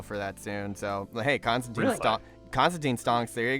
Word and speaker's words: Constantine: funny when people say Constantine. Technically speaking, the way you pronounce his name is Constantine. Yeah, I was just gonna ask Really? about It's, that. Really? Constantine rhymes with fine.